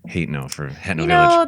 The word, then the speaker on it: Hateno: And also I say Hatno instead of Hateno for Hatno You Village.